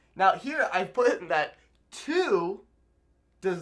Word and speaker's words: tú: Now, you're probably thinking, Nate, but tú and tú, they sound exactly the same. You know what? I don't hear the difference. Well, there is no difference. Tú and tú, pronounced exactly the same.